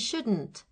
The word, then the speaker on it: shouldn't: Notice the pronunciation of should and shouldn't. It's spelt with an L.